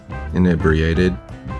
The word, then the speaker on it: inebriated: The I is not pronounced I but E instead. This is pronounced E.